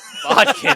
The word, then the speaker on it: bodkin: Uh, It rhymes with Splodkin. Bodkin.